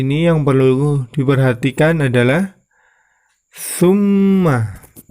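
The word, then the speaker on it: ثُمَّ: Ya, di ayat yang ke-17 ini yang perlu diperhatikan adalah summa. Di situ yang berwarna merah terdapat mim tasydid, maka itu termasuk bacaan gunnah. Maka cara membacanya ditahan dan diperpanjang.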